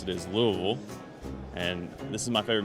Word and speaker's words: Louisville: bringing you this week all the way from Louisville Kentucky or is it Louisville let's check in